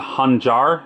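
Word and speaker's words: khanjar: I believe it's called hanjar. Hanjar is how they would pronounce it in the Arabian countries.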